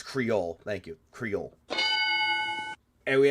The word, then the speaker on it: Creole: It's pronounced Creole. Okay, thank you. It's Creole.